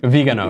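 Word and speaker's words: Viganò: Now, the New York Times, a former newspaper, reported this today as Vigano. Is that how you pronounce it? Vigano, yeah.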